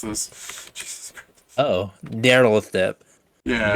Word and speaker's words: Nyarlathotep: Jesus Christ, you pronounce this. Jesus Christ. Oh, Nyarlathotep. Yeah. Nyarlathotep.